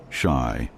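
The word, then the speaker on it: 死: In Japanese culture, the number 4 is associated with death, as it's pronounced the same as the word for death, shy.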